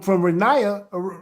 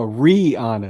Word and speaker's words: Rihanna: But we don't hear from Renaya. I don't know how to say her name. What's it? Rihanna? Rihanna. Okay. Oh, it's Brianna? No, Rihanna.